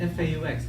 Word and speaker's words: faux: It's spelled F-A-U-X. It's Spanish. Okay, right? It's not Fox Dry, okay? It's Faux Dry Shampoo.